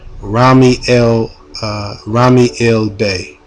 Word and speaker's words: Rami El Bey: The person that I was with in Sacramento and that I've been working with for a while was this brother named Rami El Bey. That's spelled RAH apostrophe ME space EL space Bey.